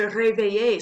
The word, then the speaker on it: réveille: brush your teeth, se réveiller, se brosser les dents. So we pronounce the endings. Now we're conjugating them, right? So silent endings. Je me réveille.